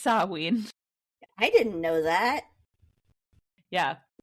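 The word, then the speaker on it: Samhain: sa I think I've heard that before yeah samahan but it's pronounced saween I didn't know that yeah yeah so that's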